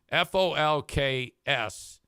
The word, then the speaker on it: folks: You do not pronounce the L in folks.